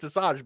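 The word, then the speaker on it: Asajj: watched the shows I know that it is pronounced Assange but that does not look how it's spelled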